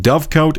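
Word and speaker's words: dovecote: Dove coat is dove coat. Oh, literally exactly how I'm pronouncing it.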